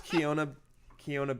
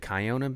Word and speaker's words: Kiona: Did I pronounce Keona Benton wrong? Is it Kiona Benton? I pronounced it Hawaiian. I'm sorry. When you said it, I was like, that sounds like somebody's Yeah. like name, like Keona Benton. I think I pronounced it. I pronounced it like it was a Hawaiian word.